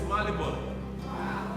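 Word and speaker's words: Marylebone: He said, no, it's Malibon.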